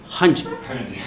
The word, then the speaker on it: Randy: I have to pronounce it correctly because in Brazil you can't pronounce Randy. His name is Randy, Randy, right? But in Brazil it's pronounced Hanji.